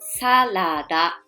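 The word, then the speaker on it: サラダ: But the pronunciation is not salad like English. You need to read each letter, then sa-la-da.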